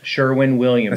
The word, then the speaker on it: Sherwin-Williams: Sherwin Williams. Did I say it right? Yeah. Sherwin Williams.